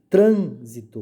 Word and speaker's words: trânsito: Todas as proparoxítonas são acentuadas. Então, trânsito, o tran é acentuado, né?